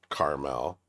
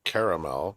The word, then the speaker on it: Carmel: It is caramel. It's spelled that way. It's not caramel, which is the candy.